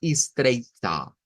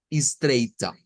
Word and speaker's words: estreita: Entonces, de acuerdo a lo que ya hemos visto, lo que aquí nos va a tocar es agregarle una A media, porque va al final. Y vamos a sonarlo como estreita, estreita.